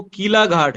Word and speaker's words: کیلا گھاٹ: صاحب کا کہنا یہ ہے کہ وہ اس کا جو صحیح تلفظ ہے وہ کیلا گھاٹ ہے, زیر کے ساتھ استعمال.